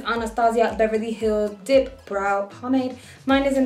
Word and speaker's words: Anastasia Beverly Hills: I am gonna use this Anastasio Beverly Hills, I said it wrong. This Anastasia Beverly Hills Dipbrow Pomade.